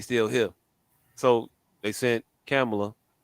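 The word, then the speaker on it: Kamala: here so they sent kamela I said it right that time they saying camera to Africa to a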